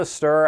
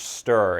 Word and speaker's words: Stirr: as comet Stadium and charge to download the stur app on your fire stick Roku or other streaming device go to the app store and search stir it's spelled STI RR once the app is